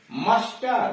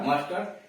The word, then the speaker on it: muster: जिसके अंत में ईयर, ईएन, ईएनटी, ई आर हो और उसके पहले 2 या 2 से अधिक लेटर हो, यानी उसके पहले 2 या 2 से अधिक लेटर आ गए हों तो ई का उच्चारण अ होता है। जैसे टनल, टनल सुरंग, स्पोकन, स्पोकन मतलब बोला हुआ, कहा हुआ। मस्टर, मस्टर गिनती, MUSTER मस्टर।